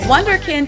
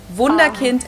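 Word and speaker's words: Wunderkind: Vunder kind wonderkint in English, vund kint in German.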